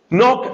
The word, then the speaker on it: Knock: Knock se escribe así como suena en inglés, K-N-O-C-K.